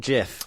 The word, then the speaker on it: GIF: turn that into a GIF. That's your career over. Literally minutes after it started. I'll be honest. I thought it was GIF, not GIF. Well, this is we like to educate. It's GIF.